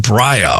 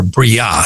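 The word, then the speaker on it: Briah: And then the next worlds down is called Braya, or Bria, some people pronounce it.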